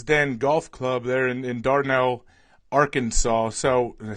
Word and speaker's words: Dardanelle: Well, you're coming to us live from the Lion's Den Golf Club there in Dardanelle, Arkansas.